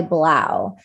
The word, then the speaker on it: 3LAU: He goes by Blau. He's a DJ. His name is spelled 3LAU.